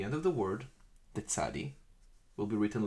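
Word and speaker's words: צדי: It's pronounced tsadi, ts, t-z, tsadi, ts.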